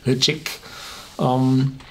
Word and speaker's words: Ledaig: And if you produce smoky whiskey, and the Ledaig, written Ledaig, pronounced slightly like Ledaig, this is a very smoky whiskey.